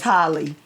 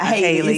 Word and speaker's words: Haley: Her name is Holly. Not Haley. It's spelled like Haley, but you pronounce it like Holly.